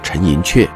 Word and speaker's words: 陈寅恪: 读寅恪，有人读寅恪，但因为先生的亲友都读作陈寅恪，因此我